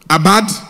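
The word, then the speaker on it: עָבַד: Abad, ça s'écrit avad, mais ça se lit en hébreu abad.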